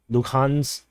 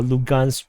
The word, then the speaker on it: Luhansk: the Russian and LPR, Luhansk People's Republic, or Lugansk People's Republic, depending on how you want to pronounce it.